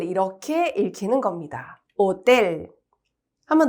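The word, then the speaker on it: hotel: 읽어 볼까요 오텔 그렇죠 호텔이 아니라 오이고 지금 뭐 들으셔서 아셨겠지만 이때 여기에서이라고 하는 글자가 스페인어에서는 떼입니다 나중에 우리 뒤에서 나와요 그래서 쌍디귿 발음으로 읽혀요음 그래서 오텔 이게 이제 스페인어로 호텔이라는 뜻이에요 오텔 되시겠죠 아채가 없는 소리에요 무음입니다 그다음에 이제 우리 만날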